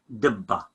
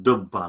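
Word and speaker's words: ܕܶܒܳܐ: Dibba. Okay, so originally it should be dibba, not dubba, like we say it in Tilkepa.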